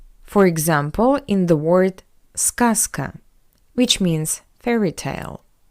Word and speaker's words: сказка: Just look, the voiced consonant Z stands before the voiceless consonant K. That's why we pronounce Z as its voiceless analog S. Z, S. Not сказка, but сказка. Сказка. Z goes to S.